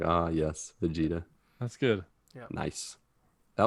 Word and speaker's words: Vegeta: it vegeta it is vegeta i don't know yeah he said it in three different languages spanish in japanese and in america it's pronounced fajita yeah once he said the